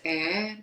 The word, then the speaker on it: 의: But then this 에, it's pronounced 에, usually drop.